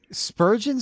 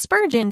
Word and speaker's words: Spurgeon: I don't know I Spurgeon sounds like it should be the name of like a character from SpongeBob SquarePants you know like it rhymes with sturgeon so it's after Charles